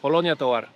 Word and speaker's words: Colonia Tovar: Colonia Tovar.